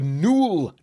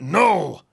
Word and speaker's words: Nuul: know that it's pronounced n and not null well I asked Elton the awesome maker of these dice so there he said you pronounce it n like the word cool ha and towerhouse creative